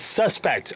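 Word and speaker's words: SVSPKT: um s PS SV cuz they're doing the whole V's for vowels it's suspect okay suspect and suffocate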